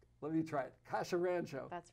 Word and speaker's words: Kassia Randzio: the five year term whose name i cannot pronounce my name is kasha ranjo let me try it kasha rancho that's right boy that's that's a mouthful and